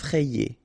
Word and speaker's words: effrayé: free amical effrayé ok remember double f so you open the e so e eff effrayé and here you fray E effrayé effrayant final not pronounced